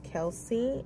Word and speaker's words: Kelce: me I admit my mistake I know it's Kelsey it's pronounced in that way and it is not